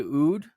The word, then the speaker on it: oud: a musician plays the ancient uh instrument the oud is that how it's pronounced rahem the the oud absolutely all right yeah so welcome for joining